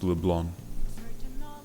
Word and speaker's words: Leblanc: scene according to Julian mikuyi rickwell it is pronounced LeBlanc it was me I was in the wrong